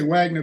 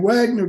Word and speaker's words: Wagner: Somebody pulled me aside and says, W's are pronounced V's over here, fella, and V's are pronounced like F, okay?